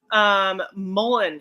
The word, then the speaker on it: mullein: Mullein, if you can find some dried mullein leaves and roll them up, and I know this sounds weird, smoke it.